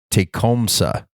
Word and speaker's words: Tecumseh: lift line for the Tecumseh let's see actually he pronounced this for me take comsa so let's say I